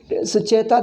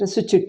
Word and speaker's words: Sucheta: Because Sucheta, there is no takara in English. You have to write to T. How does he pronounce it? Suchit it is. Sucheta Kripalani.